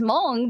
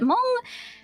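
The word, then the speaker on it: Hmong: For Mong people, you'll hear kind of like a small like h uh syllable at the beginning because uh Mong the Mong language uses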